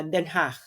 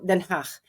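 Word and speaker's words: Den Haag: Maganda kasi yung bahay namin ng jowa ko diyan sa sa Denhach. So ngayon yun ang pronunciation na Denhach. So Denhach.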